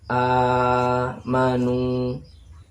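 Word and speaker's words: آمنوا: Ini bacanya amanu. Ini sama amanu. Jadi alif ini nggak berfungsi. Jadi nggak usah dibaca nak alifnya begitu.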